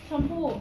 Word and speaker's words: Shampoo: name sh from Thailand how do you say it again shampoo shampoo yeah all right like hair shampoo yeah like awesome all